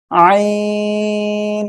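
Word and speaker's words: ع: এই যে গলা, গলার মধ্যখান থেকে আমরা উচ্চারণ করব একটু গলাটা চেপে, ঠিক আছে? আইন, আমরা এভাবে উচ্চারণ করব।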